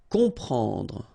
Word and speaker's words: comprendre: Exactly the same thing here. You've got OM, and after that you've got a consonant, so you will get the sound on, nasal, okay? You don't hear any M here, okay?